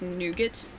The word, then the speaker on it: nougat: They're like these chocolatecoated bars which just have like n Okay, so it's pronounced nougat in the United States, but it's pronounced nouga here.